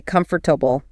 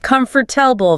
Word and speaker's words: comfortable: A native speaker does not say comfortable. We say comfortable. Comfortable. It is barely even three syllables. That middle O and the R basically vanish into thin air. The A just becomes this lazy grunt sound.